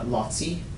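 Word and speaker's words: Laci: Um her other brother, um her other brother had a son, uh Lotsi. It's spelled L A CI.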